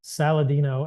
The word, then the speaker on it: Saladino: the social I'm Paul saladino MD in a ironic twist of fate my last name has salad in it so it's like salad and dinosaur is how my last name is spelled but Paul saladino MD